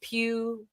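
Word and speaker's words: Pugh: I think it's ready pew the gh is silent playing yelling oh that's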